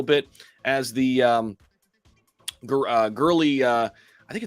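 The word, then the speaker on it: Goerli: torn there i think i think it's girly with a silent o girly testnet merge goes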